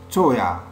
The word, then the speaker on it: teuer: Teuer. Teuer. Teuer. On prononce ya à la fin du mot.